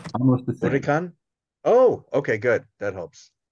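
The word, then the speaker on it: huracán: Huracan. Almost the same. Huracan.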